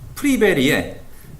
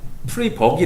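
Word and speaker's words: Friberg: 면은 프리 베리의 이제 보통 읽고 싶은 거는 프리 버기 라고 읽고 싶은데 이 사람이 노르웨이 사람인가 그렇대요 그래가지고 어디 선가 찾아보니까 이름을 프리 베리 라고 읽어야 되는 것 같은데 그냥 편할 대로 읽으셔도 됩니다 누가 뭐라고 안 그러니까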